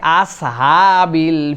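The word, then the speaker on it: أصحاب: 4 নম্বরে আসহাব, আমরা অনেক সময় বলে ফেলি আসহাবিল ফিল, প্রথমটা সিন পড়েছি, পরেরটা নর্মাল হা হলেই হলো, এরকম করে ছেড়ে দিয়েছি, তাহলে কিন্তু আমাদের উচ্চারণ ঠিক হবে না। আসহা, বলেন আস, আস, আস, আসহাবিল, আস, আস, এই সদ, তারপরে হা, সদ, হা, আসহাব, তাহলে এটা হচ্ছে 4 নম্বরে।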